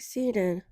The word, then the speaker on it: Cenne: It's pronounced like Sen, but you just got to cut off the last and this is my broker blueprint.